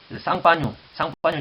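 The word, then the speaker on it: Champagne: 쌍파뉴 지방에서 나는 쌍파뉴, 샴페인, 쌍파뉴.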